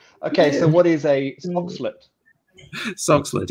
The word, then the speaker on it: Soxhlet: So it's spelt SOXHLET. Can you please pronounce that for me, Paul? And then funnier if the others try and pronounce it first. SOXHLET. It sounds like some Egyptian queen to me. SOXHLET.